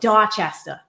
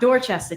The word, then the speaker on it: Dorchester: Um, and it's also like we call it uh if you really want to hear the Boston accent, uh, we call it Dorchester, not Doorchester, Dorchester.